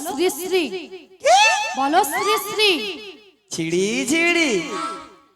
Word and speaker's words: শ্রী শ্রী: আরে মাসি ওনার নাম ছিরি ছিরি নয়, বলো শ্রী শ্রী, বলো শ্রী শ্রী।